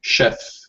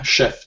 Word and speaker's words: chef: Even though it's spelled with CH, we pronounce it like SH. So we say chef. Yeah, Chef James. Yeah. Okay, chef.